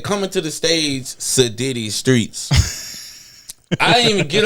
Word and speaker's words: Siddy: And it's Siddy.